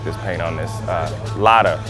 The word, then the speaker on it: Lada: this paint on this Lada that's how you pronounce it right lotta Dave go man they